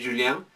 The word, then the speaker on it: Julien: En varios libros ustedes pueden verlo como que dice Julien, la pronunciación francesa que sería Julien, ¿no? Pero yo le digo la parte castellanizada Julián, ¿no?